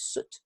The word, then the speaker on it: suit: of this word suit we we have an I but the I is not pronounced it's suit don't wear a suit